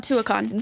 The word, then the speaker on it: Tuacahn: Is it that how you pronounce it? Yes. So Tuacahn.